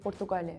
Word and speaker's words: Portugal: When we say our country we say Portugal. We say Portugal.